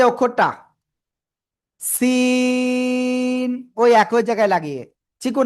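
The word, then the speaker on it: س: অক্ষর শিখবো খেয়াল করবেন সবাই এই যে অক্ষরটা সিন ওই একই জায়গায় লাগিয়ে চিকুন আওয়াজে এরকম একটু আওয়াজ করে আমরা চার আলিফটা নিয়ে উচ্চারণ করব সি ঠিক আছে সিন ওকে শব্দের শুরুতে এই সিন অক্ষর যদি আসে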